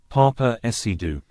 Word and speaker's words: Paapa Essiedu: Papa IDU okay so that's how you pronounce it Papa Ido has been cast as